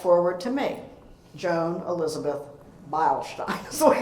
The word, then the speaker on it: Beilstein: And then fast forward to me, Joan Elizabeth Beilstein is the way it's pronounced.